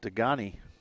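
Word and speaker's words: Degagne: That is Degani. Spelled D-E-G-A-G-N-E. Natalie Degani. I was trying to convince Coach to pronounce it Degani, but wouldn't go for it.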